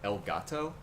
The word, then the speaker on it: Elgato: i got is called elgato it's spelled exactly like it sounds like e-l-g-a-t-o uh then you just